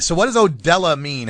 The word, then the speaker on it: Odella: I got to make sure I pronounce that right, because I grew up with Mexican kids, and that says Odele to me. What's up with that? No. It's definitely Odella Threads for Heads, man.